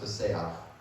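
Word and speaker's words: פִּסֵּחַ: Now this Hebrew word is pronounced paseach, and this one means that he was only lame in his feet.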